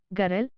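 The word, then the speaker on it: গরল: बांग्ला में लिखते हैं सरल, गरल, खाब, जाब, करीब, लेकिन इनका उच्चारित रूप होता है सोरोल, गोरोल, काबो, जावो की तरह। उदाहरण के लिए अंग्रेजी के होट या नोट की ही तरह।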